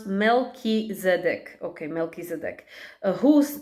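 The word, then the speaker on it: Melchizedek: by Light Mission uncovered don't give up okay pronounce MC okay melkis EDC who name means king of righteousness is the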